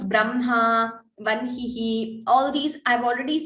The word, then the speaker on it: Brahma: How to pronounce Brahma, Vanhihi, all these. I've already said this in 2 classes. Even though it is written in a different way, ha and ma, we pronounce it as Brahma, Vanhihi.